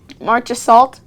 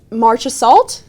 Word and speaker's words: Marchessault: Marchessault? That's what you said. Marchessault. What? What There's the a heck? T in there. March- There is a Marchessault? T in there, but it's silent.